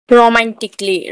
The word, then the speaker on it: romantically: Physically, physically में भी double L वाई के आगे ए है तो ए यहाँ पर भी साइलेंट होगा। रोमांटिकली, रोमांटिकली में भी ROMANTICALLY, रोमांटिकली।